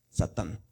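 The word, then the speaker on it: שָׂטָן: Entonces dice Sa, aquí vamos a leer de arriba hacia abajo, Sa, luego Tan, Satán.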